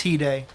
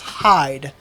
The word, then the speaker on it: hide: Yes, it is Hide. He said it was Hyde, so that's what I typed in, but I think you nailed it with Hide.